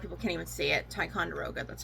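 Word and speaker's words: Ticonderoga: Tyonderoga, that's how you say it.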